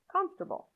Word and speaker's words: comfortable: here's an example comfortable comfortable can you hear what's happening the o r after f could be pronounced with a schwa